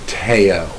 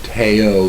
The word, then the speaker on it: Theo: you would pronounce it Teo the H is silent so Teo Vango so um and in